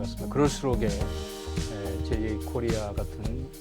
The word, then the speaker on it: JA코리아: 네, 오늘 우리 이슈앤 피플에서 남들이 자코리아라고 읽는 JA 코리아의 회장을 초청해 주셔가지고 시청자 여러분께 소개해 할 수 있는 기회를 주신 데 대해서 진심으로 감사드립니다.